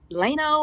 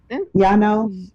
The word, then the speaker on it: Llano: Lano or Lano. I don't. How do you say that? LL. Mm-hmm. LLANO. Okay. But how do you say that in Spanish? Yano.